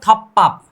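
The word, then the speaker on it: 덮밥: अगर फ और ब और ब भी मिल जाए तो भी प उच्चारण करो, मतलब थप्पाप, ठीक है।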